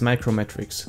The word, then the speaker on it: uMatrix: your privacy and browse the web more securely new matrix is technically pronounced as micro matrix same as macro block origin but you metric